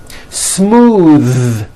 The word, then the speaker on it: smooth: Smooth. Believe it or not, the TH sound in smooth is voiced. Most foreign speakers say this word incorrectly. They say smooth with an unvoiced TH, but it's voiced.